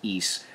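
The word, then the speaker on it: Ys: Yes, it's called East. It's Y-S, but it's pronounced East.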